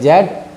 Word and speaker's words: Z: लेकिन यदि इसको अमेरिकन इंग्लिश प्रोनाउंसिएशन में ले जाएं हम, तो इसको जी पढ़ा जाता है। ब्रिटिश में जेड और अमेरिकन में जी।